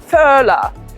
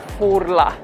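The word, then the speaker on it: Furla: very popular one and i've heard a variation in london furler guys it's not furler the brand is italian and an italian we're enjoying every single letter it's purler italian you see where we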